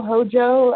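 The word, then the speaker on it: Hózhó: so how do we spell that is it h OJ o Hojo how did we spell that h h o z is in zebra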